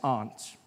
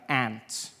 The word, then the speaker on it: aunt: you by, for instance, I pronounce the opposites of uncle as aunt. I say, my aunt out here, you say my aunt, which to me is an insect, made me look like an ass.